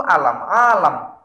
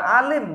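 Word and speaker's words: عالم: tangan mereka urusan seluruh alam-alam bukan Alim bacanya Ya ini kalau dibaca Alim beda lagi dan mengurusi urusan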